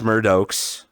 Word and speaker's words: Murdokes: your name and uh it is Murdo, correct? Yes, that is correct.